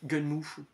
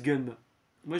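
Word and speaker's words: Gunnm: qui étaient modifiés euh gun Mo certains disent gun moi je dis gunm c'était c'est gun and machine et à la prononciation à la japonaise c'est gunm donc je dis gunm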